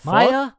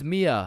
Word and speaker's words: Mia: Wait, what the Maya, is is Maya present? Uh, it's it's Mia. Wow, quite the name you got there. It's spelled kind of weird. No, no, it's not. It's literally three letters.